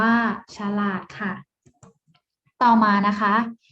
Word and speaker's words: ฉลาด: Siam อ่าน ว่า สยาม ฉลาด อ่าน ว่า ฉลาด ค่ะ ต่อ มา นะ